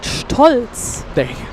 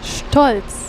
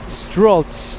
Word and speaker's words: Stolz: Stolz. Strolz. Stolz. Stolz. It's the ST. Stolz. Stolz. Stolz. Stolz. I say it like an American, like Yeah. Stolz. It's not like that.